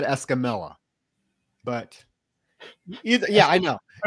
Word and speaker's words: Escamilla: Okay, so if you want to be technical and pronounce it the correct Hispanic way, it's Escamilla. Escamilla. Oh. Because, you know, double L's in Spanish are Y's.